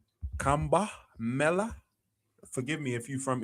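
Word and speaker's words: Kumbh Mela: Kumba mela.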